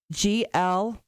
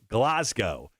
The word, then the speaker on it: Glasgow: Now, President Biden and Obama both pronounced it Glasgow. It's not glass like glass. It's Glas. GLAHZ.